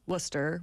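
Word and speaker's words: Worcester: up in Boston where every town is not said how it's spelled like Worchester is Worster well without the RS right regular Bostonian would say it but so I like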